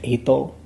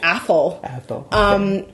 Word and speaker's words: Athol: Ethel? That's not how you say it. Jay will how do you say it? Jay will say, I think it's Athol.